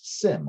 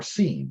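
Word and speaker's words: SIEM: uh acronym de jour is sim or seam again depending on how you feel like uh pronouncing it security incident and event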